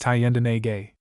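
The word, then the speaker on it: Thayendanegea: Thayendanija. Footnote, pronounced Thayendanege.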